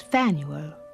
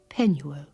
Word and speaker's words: Penuel: hundreds of years ago my father's name is fan Uwe or as we Jews pronounce it Penuel you remember the patriarch